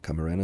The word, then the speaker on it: Camarena: Veronica I believe it's Camarena Camarena is how you say her name and and Reuben Garza